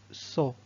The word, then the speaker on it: saut: Et finalement, le T de saut.